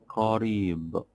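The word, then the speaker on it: قريب: For example, we have a word like qarib.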